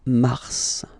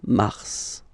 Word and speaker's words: mars: So, in a way, it's an exception because normally final S is not pronounced in French. Okay. We've got some exceptions and this one is one of them. So, Mar pronounced the final S.